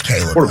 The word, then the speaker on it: Caleb: He makes Cleve Williams. It's Caleb.